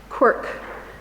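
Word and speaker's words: CWRC: team and that led me to quark which is how we pronounce see WRC which is the acronym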